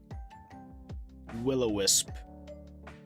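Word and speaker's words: will-o'-the-wisp: It's spelled a little weird, but willowisp otherwise known phone is will of the wisp. It just the of is short so it flows better.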